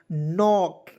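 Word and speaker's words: knock: देखेंगे k से देखिए के को इसमें हमने जो है साइलेंट कर देंगे ठीक है यहां भी हम लोग पहले के साइलेंट वाले वर्ड्स को देखेंगे उसके बाद आगे बढ़ेंगे क्लियर तो यहां देखेंगे के एन ओ सी के तो इसे क्या पढ़ेंगे दोस्तों नॉक के एन ओ सी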